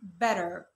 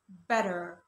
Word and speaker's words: better: letter T لو جه بين حرفين متحركين يا اما انطقوا D او انطقوا R زي الكلمة دي كده. بصوا لا مش بقول better بقول better better better.